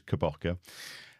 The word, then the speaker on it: Kabaka: Really, really enjoyed the transferring the system's called Kabaka, and we've always had various ways of pronouncing and spelling that. It's always interesting, but it is Kabaka.